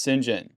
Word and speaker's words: St. John: John Smythe, the reason why it's pronounced St. John is because it kind of goes back to Norman French origin.